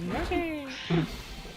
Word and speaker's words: Yoshi: It's just gonna be like the rest of the stream, like the next hour, is just Yoshi. Americans say Yoshi. Japanese people say Yashi. It's Yoshi. I'm hearing Yoshi.